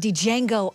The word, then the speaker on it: Django: lot of Buzz around Django Unchained right it's coming on what it's D Jango the D is silent Jimmy Fox explains in